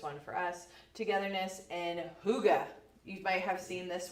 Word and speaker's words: hygge: and if places and you are saying higgy, but my husband said higgy today, and I was like, I know that's not how you say it because I was shocked. But it's hygge.